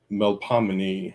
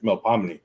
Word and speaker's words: Melpomene: call forth the muse of tragedy, which is a Melpomene, I think is how you say it, Melpomene.